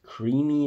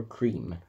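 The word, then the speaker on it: Creme: Creamy or cream? Well, the choice is yours. It's cream. The E is silent.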